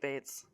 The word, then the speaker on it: Bates: Because late Bates. Late Bates, it's their thing. I mean, their last name literally rhymes with it, so lean into it, I guess.